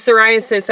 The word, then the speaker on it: psoriasis: With psoriasis, I believe it's spelled P-S-O-R-I-A-S-I-S. I don't know. But it starts with a P, and it's very misleading.